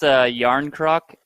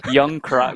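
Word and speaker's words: Jarnkrok: He pronounced Yarn Croc. I think they called him Young Krog.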